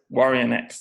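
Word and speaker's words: Guarionex: I always have trouble pronouncing his name. What is it? Say it one more time. Warrionex, that's right.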